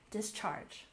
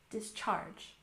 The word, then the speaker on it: discharge: The next word, discharge, with emphasis on the second syllable, discharge, discharge.